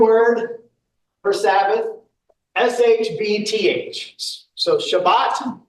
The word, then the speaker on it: Shabbat: So, Shabbat is how you would typically hear it pronounced. Um, we kind of anglicize it to Sabbath.